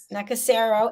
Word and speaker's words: Nakasero: Nakasero? Yes. Nakasero, Nakasero Road, 759125, Kampala, Kampala, Uganda, Uganda.